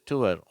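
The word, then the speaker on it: tour: அதற்கு உதாரண வார்த்தை டுவ இது தவறாகத்தான் உச்சரிக்கப்படுகிறது நான் டூர் போறேன் அப்படிங்கிறாங்க இல்லையா ஆனால் உண்மையான உச்சரிப்பு டுவர் கீழே கொடுத்துள்ள அந்த வரிசை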